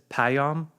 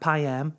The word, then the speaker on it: Payon: you live for example people destroy my name all the time but if someone says payon that's the way you pronounce my name not pay am not pay him but if someone says